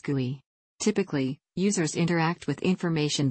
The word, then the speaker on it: GUI: referred to as Chrome or GUI pronounced GUI typically users interact with